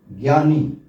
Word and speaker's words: ज्ञ: इसका उच्चारण क्या है सही उच्चारण है ज्ञ ज जिसमें स्वर नहीं है और ञ च वर्ग का पंचमाक्षर और च वर्ग का ही तीसरा व्यंजन ज तो ज में स्वर नहीं